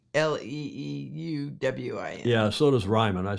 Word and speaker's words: Leeuwin: I think it's Leeuwin, the Dutch spelling, but perhaps our Aussie friends will correct me. David James says Leeuwin.